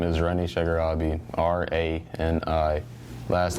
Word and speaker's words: Rani Shagarabi: Okay, so look into the camera, state your name, and spell it. My name is Rani Shagarabi, R-A-N-I.